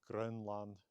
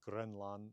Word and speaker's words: Grønland: Now, in Danish or Norwegian, it is spelled somewhat like in Old Norse, but without that long mark, although it's still pronounced as a long vowel.